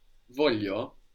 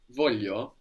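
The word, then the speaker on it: voglio: and in different dialects the G is pronounced like a y here I want in Italian is Volo Voo Voo or Voo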